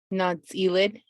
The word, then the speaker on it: Nááts’íilid: do you mind do you mind sharing the pronunciation of the initiative nuts elid thank you her broad experience in construction and